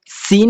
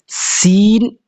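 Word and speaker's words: سين: যে সিন গতকালকেও বললাম সিন কিন্তু তিন দাত ওয়ালা একটা হরফ হ্যাঁ উচ্চারণে অনেকটা এই সদের সাথে সাদৃশ্য রাখে একই রকম সামঞ্জস্যতা রাখে তো এটা খেয়াল রাখতে হবে আপনাকে সিন এটার আওয়াজটা চিকন হবে আর আওয়াজটা মোটা হবে এটা সাধারণত সিনকে লেখার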